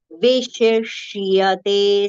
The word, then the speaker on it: विशिष्यते: Vishishyate. See, both two different shas have come together.